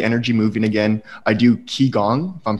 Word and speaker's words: Qigong: I do Qigong, if I'm pronouncing that correctly, and block therapy. Qigong, yeah.